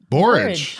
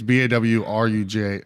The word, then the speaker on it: borage: Borage. Oh, borage. Oh, like porridge? Oh, it's Wonder what that means. okay. Borage. So the phonetically, it's BAWRUJ.